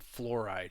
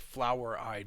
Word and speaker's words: fluoride: is Wikipedia's page on fluoride and fluoride is spelled f Lu o r i not not like flower eyed but flu oride is how it's spelled